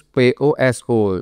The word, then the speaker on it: poso: Biasanya katanya katanya katanya si itu tadi di koran tersebut di koran kair itu puasa itu ditulis p O S O poso gitu ya bacanya ya karena bahasa Jawa.